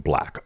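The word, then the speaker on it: 6LACK: Okay, R&B artist six like pronounc his stage name black.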